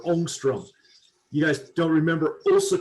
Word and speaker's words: ångström: And actually, if we're going to pronounce it right, it's a Swedish A with a circle on top, and it should be pronounced ångström or ångström.